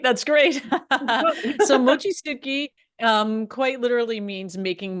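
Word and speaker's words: Mochitsuki: new films coming out let's first talk about Mochi suuki that sounds you pronounce it right that's great so Mochi sui um quite literally means making Mochi and it's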